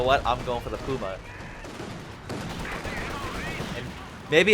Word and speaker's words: Puma: Will he queue a Puma? Or Puma? Puma. We are pronouncing it properly in German.